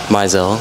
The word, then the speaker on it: Mizell: Mizell. what? Mizell. Mizell. How do you spell that?